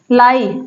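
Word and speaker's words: lie: और ए साइलेंट है लाई आई और ई एक साथ आया है आई क्या है लॉन्ग साउंड दे रहा है ई साइलेंट है उसी प्रकार पाई इस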